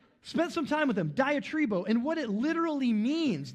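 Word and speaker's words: διατρίβω: The Greek word is diatribo, rhymes with Tim Tebow. Um diatribo and and I'm Anyways, moving on, moving on.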